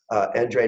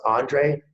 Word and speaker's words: Endre: And I couldn't be more happy to introduce Endre Nagy, and it's pronounced Andre if you're in the US, Endre if you're in Europe.